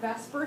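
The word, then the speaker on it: VSEPR: model making so we have this thing we pronounce that Vesper Theory even though it's clearly vaser we we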